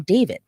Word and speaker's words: D4VD: Burke, better known by his stage name, David, but spelled with a four.